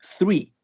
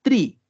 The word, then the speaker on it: three: El número 3 sería three. Three. Fíjense que no es tree. Tampoco es three, como si fuese una S solamente al principio. Tiene que haber este sonido de TH al principio.